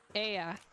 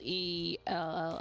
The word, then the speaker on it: ella: Because if you see Aya, which I'm pronouncing that, I'm emphasizing that a little bit too much, I think, but it's spelled E-L-L-A. I was like, Ella. Okay. And I was like, wait, no, that's not right.